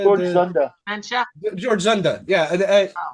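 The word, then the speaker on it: Dzundza: How do you pronounce his name? Denunza? George Zunda.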